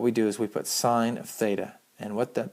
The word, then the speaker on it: sine: They're still pronounced, even when they're written like this, they're still pronounced sine, cosine, and tangent.